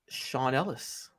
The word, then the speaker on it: Sean Ellis: It is Sean Ellis. Yes, it rhymes with Ron Dellis.